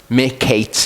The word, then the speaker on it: Miketz: Okay, so the Torah portion is Miketz. We've got mem, I, like a Q, A, and then a sadi, which is a ts. Miketz is how it's pronounced.